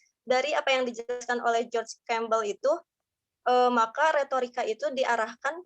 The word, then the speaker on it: George Campbell: Nah, bacanya George Campbell.